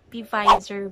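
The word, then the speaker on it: Pfizer: it yun Ayan so Gawa siya ng pizer ba Baka hindi na naman ako marunong magbasa Ayon or silent p f or basta ganon and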